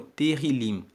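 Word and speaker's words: Tehilim: no texto original em hebraico é conhecido como terril se escreve t e h i l i m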